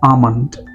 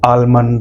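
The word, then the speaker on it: almond: दी आमंड, आमंड, ये वाला L silent है, आप कहोगे इसे आमंड। ठीक है, बादाम। कई सारे लोग एल को देखते हैं और उसे पढ़ते हैं आलमंड या एलमंड, ऐसे नहीं पढ़ोगे, इसे पढ़ना है आमंड।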